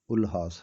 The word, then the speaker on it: Ulhas: کرنے شروع کر دیے۔ میں نے پہلے ان کا نام الہاس بولا تھا، انگلش میں دیکھا تو ان کا نام یو سے شروع ہوتا ہے، سو صحیح تلفظ الہاس ہے۔ اپنے وقت کے خوبصورت